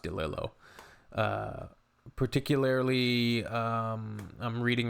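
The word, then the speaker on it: DeLillo: I've been reading uh the novels of Dom Dillo. I think it's pronounced Dilo.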